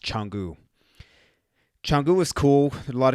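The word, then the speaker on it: Canggu: it's CA ng g you but it's it's pronounced Changu jungle was cool a lot of good restaurants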